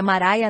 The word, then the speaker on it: Maria: para ganhar a Espiritual Maria cuja pronúncia é maraia nasceu em 1844 Em